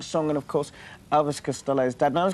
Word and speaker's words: Costello: grandmother's name who was Elizabeth Costello or as is correctly pronounced in Ireland Castello right right and recently